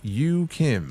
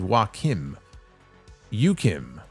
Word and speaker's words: Yukim: Oh, also my name is pronounced Yukim. Okay, see, thank you. I thought it was wim yukim.